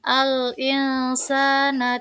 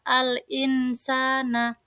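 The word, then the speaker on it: الإنسان: tetapi harus khalaqna kemudian Al insana tidak boleh dibaca Al insana karena S serta mendengung dibaca alinsana kemudian takwim juga harus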